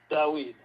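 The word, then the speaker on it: Dawid: Dawed. How do you spell that? D A W I D A W I just like It's like David, but it's W.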